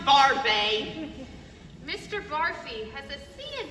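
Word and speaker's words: Barfée: Barfy. It's pronounced Barfay.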